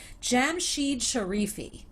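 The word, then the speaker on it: Jamshied Sharifi: michael webb james sampling alex lackamore as mentioned jam sheed sharifi that's how you say his name um ian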